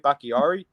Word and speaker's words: Bakhtiari: David Bakhtiari?